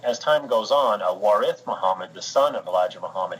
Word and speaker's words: Muhammad: with him and apparently Elijah Muhammad had been pronouncing his name Elijah MacLeod and this yeah this of this theologian from the Middle East I believe said that's pronounced Muhammad and it took some convincing to get him